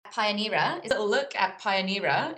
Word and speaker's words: Pioneera: pioneer look at pioneer is that how we say it yes that's exactly how you say it well done also very